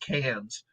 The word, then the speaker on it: Cairns: it's melbourne so uh they don't pronounce their r's so so melbourne is melbourne and carnes is pronounced cans so i was at melbourne sydney and cairns and when i was